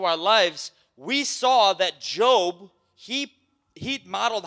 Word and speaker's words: Job: is job right job it's spelled like j-o-b like what like job but it's not job it's job right you could pull